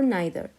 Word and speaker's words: neither: أبغى بس ألفت انتباهكم لشغلة that either and neither they have two pronunciation لهم نطقين and both the pronunciation are correct. وكلا النطقين صحيح. So I can say either or either and I can say neither or neither. Both are considered to be correct pronunciation.